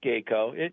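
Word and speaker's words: Gaco: uh roof coating yeah Tom it's Geo and the product has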